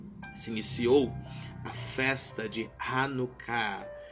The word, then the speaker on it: Hanukkah: iniciou a festa de hanuká hanucá se escreve da seguinte forma h a n u k k a h hanan Ok é uma